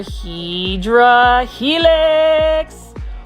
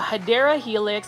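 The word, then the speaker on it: Hedera helix: guys this is another hedra helix or a hadera helix I just like calling hedra Helix but the correct way to say it is hadera Helix which is basically an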